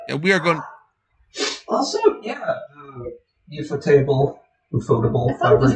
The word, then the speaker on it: ufotable: It's like particularly once you get to the UFO table adaptations, where UFO table's like, yes, we are big fans of Nasu and his stuff, so we're gonna They go all out.